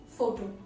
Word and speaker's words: photo: For example, if you look at the word photo, so you're putting the stress on the first syllable, photo.